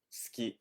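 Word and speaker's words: 好き: fond of is SK SK now here's a tip okay pronunciation tip you don't have to really say the u sound on Su it sounds like ski like you're skiing or whatever ski SK okay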